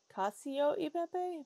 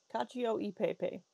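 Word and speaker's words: cacio e pepe: like chocolate no dumbass I think it's Casio eepe but it's basically just like pepper pasta it's it's Italian so um yeah it's let me let me see the corre correct pronunciation of that oh it's Kio I haven't studied Italian I've studied other other languages Kio Pepe I had the last part right Kio CIO eepe caca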